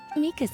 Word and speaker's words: Mika: Okay, it's Mika. I probably should have assumed it was going to be the Japanese pronunciation.